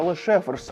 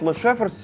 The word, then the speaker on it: Lesjöfors: суперруважні ви помітили що шведський завод називається лешефрс а не кілан Ну але шеверс і так це слово читається Саме так скандинавській мові загалом дуже нелогічні в плані читання так от лешефрс сьогодні це найвідоміший в